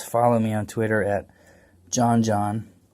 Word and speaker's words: Joxn: If you want some more talk about chess and other games, follow me on Twitter at JohnJohn. Remember, the X is silent, because that's where the H died.